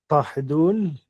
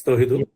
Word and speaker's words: Tohidul: Tahidul, please tell me if I'm pronouncing it right. It is correct. It's Tohidul.